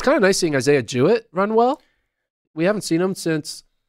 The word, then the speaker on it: Jewett: Nike ad and just Jewett. So you have, he's training with Benjamin and Norman. See what I did there? Yeah. Okay. It rhymes with do it.